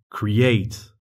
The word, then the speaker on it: create: comme par exemple pirate ou soit tu as un verbe avec deux syllabes et là il faudra accentuer la dernière syllabe comme par exemple create c'est l'heure du défi